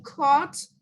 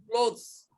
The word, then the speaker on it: clothes: I put away my clothes and I vacuum my room. Clothes, not cloth, clothes.